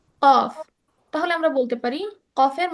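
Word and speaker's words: ق: তো কফ উচ্চারণ হয় কিভাবে? তোমার জিহ্বার স্টার্ট যে জায়গাটায় হয়, হ্যাঁ, এটাকে বলে জিহ্বার গোড়া। ঠিক তার উপরে যে তালু আছে, সেইখানে স্পর্শ করে উচ্চারণ হয় কফ।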